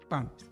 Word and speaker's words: PAMP: E eles têm um projeto chamado PAMP. Pronunciei bem, não é? PAMP, correto.